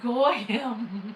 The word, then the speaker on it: Gollum: Gollum, right? Well, in Spanish, the two L words makes a Y sound. So Gollum, if you were to say it like here, it's Goyam.